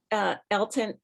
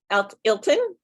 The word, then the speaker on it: Ailton: But Elton, is that, am I pronouncing your name correctly? Help me out with what you just said. Is it Ilton? Ailton. Ailton.